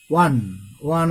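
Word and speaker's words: one: হচ্ছে কনসোনান্টের ন্যায়, যেমন ওয়ান আইড ম্যান। এখানে দেখো আই স এ ওয়ান eyed man, ওয়ানের উচ্চারণ ওয়া, অর্থাৎ WA এমন উচ্চারণ হচ্ছে ওয়া।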